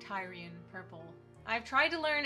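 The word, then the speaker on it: Tyrian: meant to replicate the i believe is actually pronounced tyrion purple is i should have figured that out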